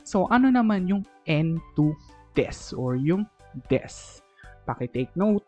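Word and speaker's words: です: So, ano naman yung N2 desu or yung desu? Pakitake note, ang desu is a Japanese copula. Pakitake note, ang pronunciation niya hindi po desu, hindi desu. Desu po ang pronunciation. Silent u po.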